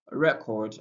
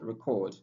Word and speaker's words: record: The stress placement helps us to know, oh, this one here is a noun while that one there is a verb.